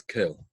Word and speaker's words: Kel: So, for example, the name that's associated with Chesed is the name Aleph Lamed Kel, as it's pronounced. We don't say the name unless we're actually using it in prayer. So we pronounce it as Kel, right?